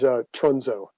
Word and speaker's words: Trunzo: It is Trunzo. Trunzo, Trunzo. It sounds, short U, long O.